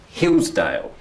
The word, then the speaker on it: Hillsdale: Have a look at Hillsdale. Which is the strong syllable? Is it Hills or is it Dale? Hills. Hills. That's right. So it's Hillsdale.